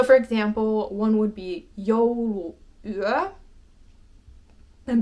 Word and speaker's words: jouluyö: So for example, one would be jouluyö. And because these are two separate words, you do have this little pause in between the U and the U.